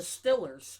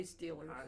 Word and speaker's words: Steelers: Because a lot of people call it The Stillers. Steelers, right? I never say Stillers. Right. I always say Steelers.